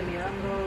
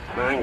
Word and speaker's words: Niangua: I was thinking, did you say the Miango? Is that one of the rivers? Miangua. No, that's not Niangua. Niangua. Yeah. Yeah. That's another. Oh! But that's an old pronunciation.